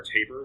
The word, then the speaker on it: TAPR: So your three major options there are Taper, which is spelled TAPR, the CERN open hardware license, so kind of like we mentioned, CERN with KiCad before, and SolderPad.